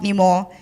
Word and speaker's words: Nima: It is spelled Nima, but it is pronounced Nimo.